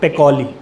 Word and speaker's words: Pacioli: लूका पैकोली। आई silent है ना, PACIOLI, है ना।